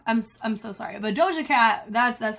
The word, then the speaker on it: Doja Cat: be so wrong I'm I'm so sorry but DOA cat that's that's how you say her name but